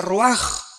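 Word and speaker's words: רוח: Aquí se usa otra palabra hebrea que es se escribe roach con R de Raúl A. Se pronuncia roaj. Por ejemplo, cuando hablamos del Espíritu Santo, el Espíritu Santo es roaj, el cadosh.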